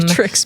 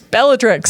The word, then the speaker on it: Bellatrix: Beatrix. Bellatrix.